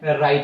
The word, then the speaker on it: writ: ये WRIT को वराइट नहीं लिखते, W को साइलेंट करते हैं और R से उच्चारण शुरू करते हैं। क्या लिखते हैं? राइट लिखते हैं हम लोग।